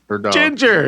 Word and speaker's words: Jinjer: that oh yeah and it's not spelled like ginger like you would think with a ginger yeah it's spelled with a j so it's j i j e r yeah it's spelled like it would sound right because yeah because ginger